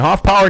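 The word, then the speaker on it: Hoffpauir: And Hoffpower, not spelt the way you think it would. P-A-U-I-R at the end of it. Still pronounced power as in P-O-W-E-R.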